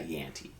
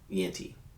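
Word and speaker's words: Jeanty: up at the Raiders because the Raiders got Yanti. Yenti. I don't know how to say this. Genti. Genty.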